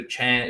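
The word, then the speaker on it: Achane: apparently we got a we've got a chance a change of pronunciation there a Chan and what they put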